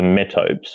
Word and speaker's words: metopes: Obviously the metopes, we'll use the Anglo-Saxon pronunciation.